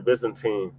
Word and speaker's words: Byzantine: Yeah, the Byzantine. That's how it's pronounced.